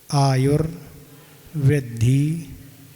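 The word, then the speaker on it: आयुर्वृद्धि: आयुर वृद्धि, आयुर पढ़ना है, रेफ है, आयुर वृद्धि क्षयोत्कर्ष, आयु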